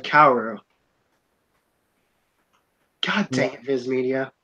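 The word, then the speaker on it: 薫: Oh my god, they're pronouncing it Koru instead of Kaoru.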